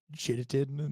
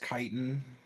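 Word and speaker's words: chitin: a very rare armor made of like insect jittin that like covers your body insect kiten why would that be pronounced Ken because it's dumb but that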